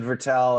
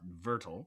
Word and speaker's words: Vettel: Well, and Vettel, not Vertel.